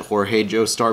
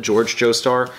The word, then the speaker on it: George Joestar: to be this is the i want to pronounce it jorge joestar because of the way it's uh spelt but george joestar so this one's uh written and illustrated by